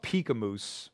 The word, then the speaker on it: Peek A Moose: And you know, his company is called Peek A Moose, like the ski slope. Spell that, would you?